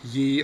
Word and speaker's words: ye: one too right uh if you ever see y e at the beginning of something so like ye old what we say ye it's actually just pronounced the um or the i